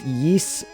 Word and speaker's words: Ys: i enjoy the geese it's pronounced yeast the ys series yees